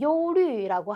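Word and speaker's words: 忧虑: 발음이 요류라고 하고요.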